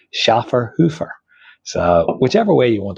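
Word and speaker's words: Schöfferhofer: Iron pronunciation and apparently how you're supposed to pronounce it. So, I call this Shaer Hoffer. Uh, but apparently it should be pronounced Schaer Hoofer.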